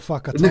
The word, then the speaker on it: Whakatane: And Whanganui, and they're all spelled with W's and H's for some reason instead of an F.